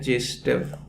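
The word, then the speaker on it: Зайцев: सेडजेफ rule नहीं है, सचमुच में यह है जेस्टेव रूल। तो असली नाम जेस्टेव है, वो प्रोनाउंसिएशन का कुछ चक्कर था भाषा का, तो इसे इंग्लिश में लिखते वक्त तो सेडजेफ पढ़ा जाता था।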